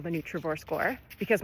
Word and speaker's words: Nutrivore: I developed a nutrient density calculation which I call the Neutravore score because my brand is Neutraore and that rhymes with score.